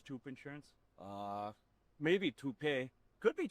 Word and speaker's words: Toop: Uh Maybe Toopay. Could be Toopay. Yeah, I don't know. Or Toop Insurance? Maybe. No, I don't think so. Say it right. That's t o o p. That's Toop. Oh, if it's Toop.